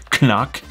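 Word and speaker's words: CNOC: very similar to the canoque vecto that i used for so long apparently that's how you pronounce it canuck and that's a great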